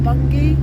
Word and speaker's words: Bungay: towards a place called bun bun game they pronounce it for bungie which is in suffolk all the borders of